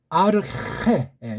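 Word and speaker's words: ἀρχή: 보면서 여기까지를 조금 설명했는데 아르헤 요 발음 요거 히 강한 우리 표기 쌍이웃으로 할 수 있지만 이거보다는 키읔 들어가고 이런 병서로 하셔야 돼요. 이런 병서, 합용한 병서. 크도 아니고 흐도 아닌데 크자 소리가 나면서 좀 뜨는 거예요.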